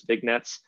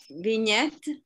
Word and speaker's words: vignette: of southern european yeah vignette vignette okay um it's yeah i think i'm i'm i'm putting too much emphasis on the g within this uh uh